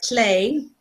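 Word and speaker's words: Lleu: And their names are Clé, which is how you pronounce his weird Welsh name, because he's based on he's based on Welsh mythology, and Gawain, his twin sister.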